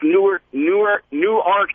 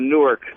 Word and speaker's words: Newark: of Delaware and uh all the locals down there call it's New Arc, Delaware, excuse me. Yeah. And they get really pissed off if you call it Newark.